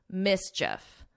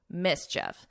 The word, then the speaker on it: mischief: But here you don't hear that long E and it's just like if you were saying if mischief, mischief.